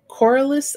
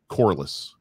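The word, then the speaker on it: Corlys: uh i keep saying coralist i don't know how to actually say his name like but i believe that's how you say i think it's cordless as if an apple had no core it's correlated poreless yeah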